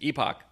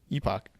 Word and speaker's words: epoch: whatever the default was epoch epoch or epic i don't know how you pronounce it i've always liked it that way but i've heard it pronounced epic those people are dumb and